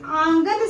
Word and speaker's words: आंगन: अंगना बोल देते हैं लेकिन अंगना शब्द उच्चारण गलत है। अगर आंगन शब्द शुद्ध होता है।